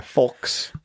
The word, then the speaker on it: Fulks: Yeah, Fulks.